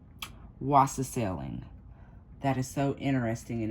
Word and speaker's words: wassailing: Now, the answer to this question, whether you got it right or wrong, is English custom of wassailing. And I swear I'm saying it right. Wassailing.